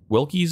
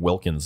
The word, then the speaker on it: Wilkie: estate the will will wilkies estate I've been I was saying it wrong I said I think I was saying Wilkins estate it's Wilkie's estate and uh we dispatched